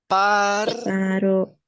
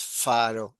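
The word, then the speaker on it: פרעה: Abajo, Paro, paró. No es faro, es paro, o el puntito.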